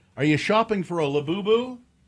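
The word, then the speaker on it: Labubu: You know, Laboo rhymes with pazuzu, which is a demon.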